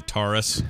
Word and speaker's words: Taurus: There's the one that rhymes with the Ford car. So I'll say Taurus, or maybe it is actually Taurus. Rhymes the Ford car. It rhymes and is exactly the same letters and word. For some reason, when I was younger, I thought it was Taurus. But you know why? It's because their ad campaign was Taurus for us.